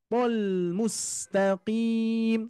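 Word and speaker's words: مستقيم: ini yang kedua ya mustaqim Nah di sini tebal semua nih ya huruf Shad apalagi huruf Shad meskipun kasrah tapi dia tetap tebal ya yang mempunyai apa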